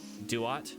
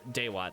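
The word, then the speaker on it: Dewott: Mostly because I don't like Oshawott and I don't like Duat. Or Daywat, I think is how it's pronounced.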